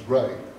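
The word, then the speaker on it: Ree: got the same name Ray is is spelled R E Re but it's pronounced Ray and I'm Ray too.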